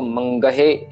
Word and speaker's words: मंगह: Again मंगह वही अक्षर आ गया हमारा। सो हाहे में से हारी है और उसके सामने वाला अक्षर मुक्ता है। सो इसको मंगहे नहीं करना हमने। सो गग्गे और हाहे में सूखम दिलावा आएगी। सो मंगह, ठीक है।